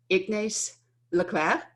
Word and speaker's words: Ignace Lecleir: I can't tell you so how excited I am to have Michelle Garnaut, Ignace Lecleir. Am I pronouncing it correctly?